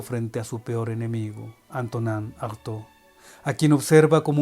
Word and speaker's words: Antonin: En América Latina decimos Antonín, porque así se escribe, Antonín Artaud, pero entonces tendríamos que decir Antonín Artaud. Lo voy a leer como lo leen los franceses, Antonin Artaud.